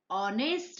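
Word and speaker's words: honest: दूसरा एग्जाम्पल देखते हैं, ऑनेस्ट मैन, यहाँ पर एच से स्पेलिंग स्टार्ट हो रही है, लेकिन उसका प्रोनाउंस है वॉवेल साउंड, ओ, ऑनेस्ट मैन, इसीलिए उसके आगे एन आता है।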